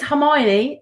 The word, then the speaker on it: Hermione: they were younger and I said the name Hermione wrong for years until the movies came out it is Himani and i can't remember